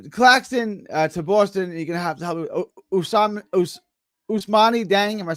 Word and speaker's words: Ousmane Dieng: Ousmane Dieng. Am I saying that right? Ousmane Dieng.